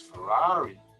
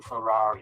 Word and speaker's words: Ferrari: What a nice Ferrari. No, it's not a Ferrari, it's a Ferrari. It's a schwa sound.